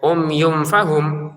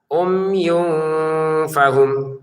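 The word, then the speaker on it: عمي فهم: baca itu di sini katanya baca samar kok bacanya umyum fahum ya umyum fahum berarti belum ditahan. Nah ketidaklancarannya itu karena kita tidak menahan dua harakat itu. Summum bukmun umyun. Umyun ini kefa umyun fahum gitu ya.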